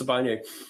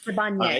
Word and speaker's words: Sibanye: Why hasn't Sibanye bought you out? Pardon me if I mispronounced that. No, it is Sibanye. Sibanye.